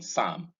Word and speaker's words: psalm: palm, in calm, in psalm. The L in each of these words in this column is silent. These are just examples of words that have L as silent.